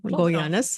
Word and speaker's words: Goyanes: No, you got Goyanes. Goyanes.